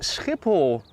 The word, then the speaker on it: Schiphol: Mitchell is from Australia it is skiple and the s is well CH is I should say so it's like when you need to spit skiple yeah duchies and I